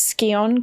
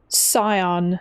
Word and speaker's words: Scion: I don't know it's it's pronounced Scion yes oh Okay. Okay. Scion. I don't know why I thought it was Skon then.